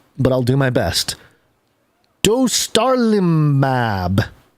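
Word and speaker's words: dostarlimab: i'll do my best dostar limab du starlimab d-o-s-t-a-r-l-i-m-a-b kind of like do star lima b i don't know okay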